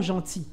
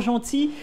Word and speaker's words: gentil: très bien très bien tu as oublié lelle dans les mot gentil même si on ne prononce pas mais quand même ces